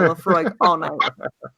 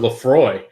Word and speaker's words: Laphroaig: will have nightmares about the Laphroaig hey release you pronounce it right which is pretty good because for years we thought it was Lefroy was we had no